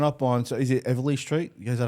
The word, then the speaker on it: Eveleigh Street: Mate, growing up on, so is it Eveleigh Street? Is that how you pronounce it? Eveleigh Street, yeah.